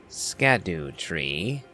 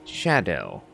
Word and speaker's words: Scadutree: behind me see I was reading the name phonetically hence scadu tree but that is not the actual way to